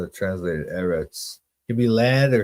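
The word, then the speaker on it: ארץ: lay the earth desolate, the whole earth, like Eretz. That's often how that word is pronounced, translated, Eretz.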